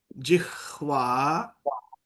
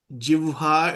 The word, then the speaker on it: जिह्वा: So all of you please note though, this word is Jihva, J I H V A. Some pronounce as Jivha, it's wrong. It is Jihva is correct.